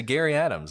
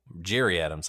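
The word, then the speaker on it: Gerry Adams: If you listen to Gary Adams, I mean, he's telling you, Jerry Adams, I think that's how they actually pronounce his name.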